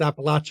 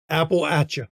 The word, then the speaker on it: Appalachia: of Appalachia Appalachia sorry I have to say it right I keep saying it wrong it's Appalachia is how they call it Apple ATA that's the way to to do it Appalachia yep